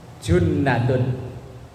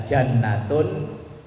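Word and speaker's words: جُنَّةٌ: shallallahu alaihi wasallam puasa junnatun itu dibaca jannatun Dibaca junnatun nanti artinya beda itu bacanya junnatun artinya benteng kalau jannatun artinya surga atau Taman kalau dibaca jin puasa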